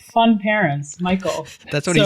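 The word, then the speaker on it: Mikeal: Michael I I always I always pronounce it K but I'm like that's not right I'm pretty sure it's the strangest spelling of Michael that there is m i k e a l it's just Michael yeah it's like fun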